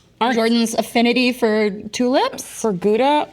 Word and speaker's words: Gouda: For Gouda, or as they say, Howda. What? oh my God, really? Howda, yeah, that's how they pronounce it.